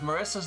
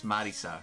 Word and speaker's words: Marisa: hey cheer no again the way that they pronounce it is Marisa right but obviously I'm an English speaker so I call her Marissa I've never had anyone